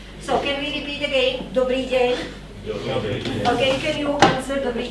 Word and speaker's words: dobrý deň: Dobrý deň. Okay, can you answer dobrý deň? Or are you Slovak? No. No. Dobrý deň. Oh, wonderful. Dobrý deň.